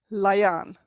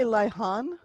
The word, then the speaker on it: Liathan: The TH is not pronounced. There's no TH in Irish. So if you stick your finger over the TH, you'll have L-I-A, nothing TH, A fada N. Lian. You could say Lihan, but most of the time I